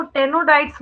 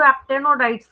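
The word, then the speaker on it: Aptenodytes: देखिए कई लोग इसको टेनोडाइट्स बोलते हैं, पूरा ही साइलेंट कर देते हैं शुरू वाला। कई लोग इसको एक्टेनोडाइट्स बोलते हैं, एक्टेनोडाइट्स।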